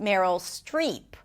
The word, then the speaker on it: Meryl Streep: Now, her name is pronounced Meryl Streep. Strip is a different word.